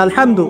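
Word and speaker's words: الحمد: আচ্ছা, এখানে আলহামদু কেমন করে উচ্চারণ করেছেন? গলার কোথা থেকে? মাঝখান থেকে না? আচ্ছা, আলহামদু অর্থ সমস্ত প্রশংসা।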